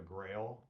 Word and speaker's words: Grayl: Grail, it's spelled Grayl.